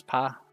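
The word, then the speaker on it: ぴ: in the word beak p pronounce it p like in the word peep write key as normal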